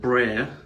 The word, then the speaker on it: Brer: I also discovered that Brer was the southern pronunciation of brother.